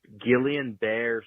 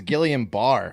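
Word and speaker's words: Guillain-Barré: a billion episodes ago is pronounced Gillian bear syndrome what Johnson and Johnson was giving you like please get the vaccine but it's Gillian bear um no it's not it's Gillian Barr I'm almost positive yeah so that's a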